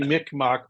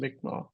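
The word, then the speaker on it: Mi'kmaq: Oh, Greg, how did you say this was pronounced? I forgot. Magma. Magma. That's it. I kept saying, Mick, Mak, because that's the Canadian friends that called it that.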